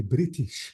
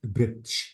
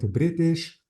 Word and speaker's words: British: these two words so this is a British not britsh but British or original and because